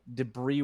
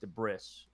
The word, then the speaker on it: debris: at a time yeah i didn't know that uh debris was not pronounced the bris oh no yeah i